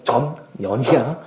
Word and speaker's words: 전연: 발음 잘해야 돼. 전연이야.